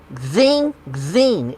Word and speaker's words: Xing Xing: name wrong but okay I would call this Xing Xing it's said to be quite huh zing zing is how you say it Sing Sing yes